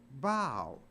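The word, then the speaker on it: bough: u g h but it's not pronounced buff it's pronounced bow so even O A.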